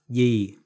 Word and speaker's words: gì: Gì. Under the spelling is gì. The pronunciation in Southern Vietnamese is gì.